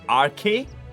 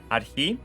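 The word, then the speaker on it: ἀρχή: Tak it will you will probably pronounce it as RK it's not r k it's arhi and it means uh principle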